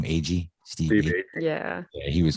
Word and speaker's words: Agee: steve iggy how do you say his name agee steve yeah yeah he was good but he